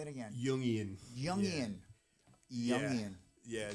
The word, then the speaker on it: Jungian: Jungian. Is that how you pronounce that? Say it again. Jungian.